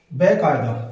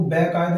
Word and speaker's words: बाकायदा: बेकायदा। क्या है? बेकायदा। बेकायदा में क्या मिस्टेक है, सोचो थोड़ा। क्या होता है? देखो, वो बेकायदा नहीं होता, वो बाकायदा होता है।